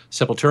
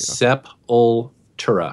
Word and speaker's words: Sepultura: And I have to admit that when I tweeted that out, I was like, I don't know if anybody listens to Sepultura anymore, but it warmed my heart to see that Ben actually recognized it.